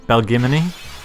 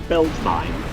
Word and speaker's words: Belgemine: aeons have been Also, shout out to younger me who wanted to pronounce that name Belgimini. Yes. Like anemone, right? Yeah. Or what about Belgemine?